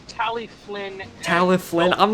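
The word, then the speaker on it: Talyllyn: Michael, it's pronounced Tally Flynn.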